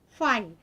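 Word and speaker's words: φ: can write this as fine it is not pie pie means this this we are going to call it as pie this we have to pronounce it has 5 right so this is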